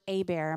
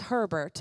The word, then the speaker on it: Hebert: My name is Hebert. His name is Hebert. It's spelled the same. I'm from Texas. He's probably not. The only thing that you should never call us is Herbert, because there isn't an R there.